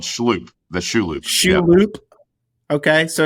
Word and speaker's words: Shloop: That's how you pronounce it. Schloop. Yeah, it's called Schloop.